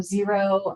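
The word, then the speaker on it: Xero: Amanda Davis: And accountants that like 00 spelled with a with an x not a Z so zero.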